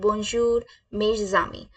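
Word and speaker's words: bonjour mes amis: my friends को हम French में बोलते हैं बजर मे जामी बजर मेजम कैसे बोलेंगे हम बजर मे जामी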